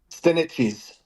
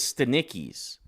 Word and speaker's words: Stanichis: Lisa and I were arguing about how it's pronounced. Stanichis. Stanichis. I thought it was Stanicki's. Feels good to be right. Lisa wins. I was like, it's Eastern European. The CH is pronounced CK.